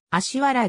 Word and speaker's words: 葦原: もある読みは旧仮名遣いでは芦原と表記されるが発音はあしわらである高岡ハン氏の